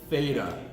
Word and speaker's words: theta: Theta. Oh, It's weird. In the English alphabet, how do we spell the pronunciation th? TH. That's their th. Okay? So this is called theta. I'm totally butchering it here,